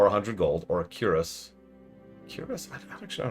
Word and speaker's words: cuirass: Cuirass? I don't actually know how to pronounce that.